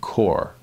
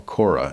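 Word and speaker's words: Korah: the gain saying of core or Kora as it would be pronounced in the Old Testament now again he's using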